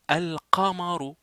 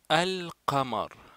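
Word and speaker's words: القمر: Pourquoi ça s'appelle al-lam al-qamariya? Parce qu'on l'a dit, parce qu'on la prononce, parce que ça apparaît dans la prononciation.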